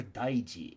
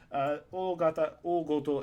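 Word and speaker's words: 大事: O goto has a very similar meaning, but a very different pronunciation, so we're just going to have to try and remember that daiji and o goto are written the same way, but with different pronunciations.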